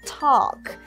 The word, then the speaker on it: talk: Talk. Nhớ là chữ A sẽ phát âm thành âm O dài.